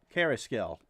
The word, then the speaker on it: Carrasquel: Carrasquel. Don't pronounce the Q.